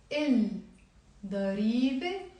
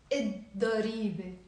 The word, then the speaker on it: الضريبة: Then here, il ضريبة. We will not pronounce the lam. ما بنلفظ اللام. So بنقول الضريبة.